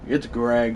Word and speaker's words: Graig: It's Graig, Wave. It's spelled weird, but yeah.